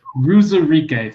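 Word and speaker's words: Uwazurike: How do you pronounce Ruzarike? Ruzarike, thank you.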